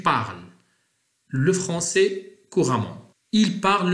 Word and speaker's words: parles: لاحظوا معي ES لا تنطق، نقول tu parles le français couramment.